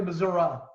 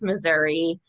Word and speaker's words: Missouri: Missouri or Missouri?